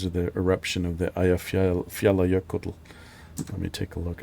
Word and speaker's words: Eyjafjallajökull: The Kull, which is actually pronounced Kuddl. Eyjafjallajökull.